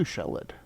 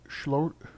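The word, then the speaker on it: Sheoldred: And a turn 2 Shellid. That's how do you say that? It's Shlorid.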